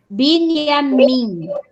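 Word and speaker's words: בנימין: Então, como é que eu leio? Binyamin. Isso, eu juntei a sílaba aqui, o Nun com o Yud e o A. Binyamin.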